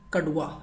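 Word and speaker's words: कड़वा: Kadwa means bitter, very bitter, that we can say kadwa, alright? Kadwa. It's not da sound, so don't go to this one, look in the Devanagari script.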